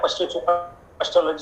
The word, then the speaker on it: psychology: से बना हुआ है पश्चोलॉजी शब्द है। इसीलिए वो पी जो है वो साइलेंट है।